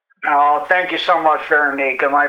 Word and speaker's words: Veronique: Thank you, Veronique.